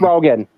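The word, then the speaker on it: Rogen: I forgot how you pronounce his last name. Seth Rogan.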